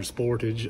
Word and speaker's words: Sportage: called Monty with a Kia Sportage or Sportage as the Americans say uh asked about ad